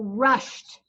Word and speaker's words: rushed: So when that happens, then we know that it's going to make a T sound. So rushed. It makes a T sound, even though it's spelled ED.